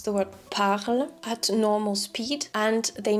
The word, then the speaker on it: parle: So that person would pronounce pagle instead of parle.